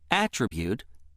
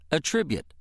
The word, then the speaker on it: attribute: Word two deserves special attention because it has two pronunciations, attribute and attribute. Which pronunciation you use depends on how the word is being used in a sentence. Let's see how this works. If word two is being used as a noun meaning a quality belonging to something, it is pronounced attribute.